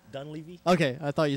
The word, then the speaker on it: Dunleavy: How'd you pronounce his name? Dunleavy.